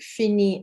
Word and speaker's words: finit: Fini, pronounced the same, but it has an IT on the end. So in terms of speaking, this is quite nice and easy because they are pronounced exactly the same.